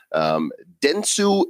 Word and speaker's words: Dentsu: using blockchain to facilitate this that's taking place Dentsu in kadokawa that's how you pronounce those those organizations here are wanting to